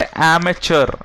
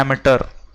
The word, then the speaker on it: amateur: है, बर्गलर सही है, इट्स नॉट एमेचर, इसको बोलते हैं एमेटर, इसकी pronunciation AMATEUR, इट्स नॉट TURE, वो इमेच्योर में हो जाएगा, केवल ए मत लिखना, एमेच्योर नहीं करना है, या तो मैच्योर या एमेटर।